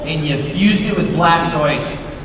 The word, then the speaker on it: Blastoise: a a voice actress, her husband is convinced that Blastoise's name should be pronounced Blastoise cuz you say tortoise, right? Blastoise. And so I was like, "No, man. It's Blastoise."